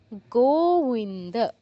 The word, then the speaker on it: গোবিন্দ: না রাজিনা কিন্ড রাজ্যে গোবিন্দ গো তে দীর্ঘ উই উই এর উচ্চারণটা বি বলা যাবে না কারণ এটা বর্গীয় ব নয় অন্তস্থব্য উই বলতে হবে গোবিন্দ কিম ভোগাইড এখানে